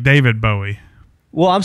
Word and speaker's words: Bowie: nails on a chalkboard for him I said Bowie Bowie knife Bo knife it's not it's not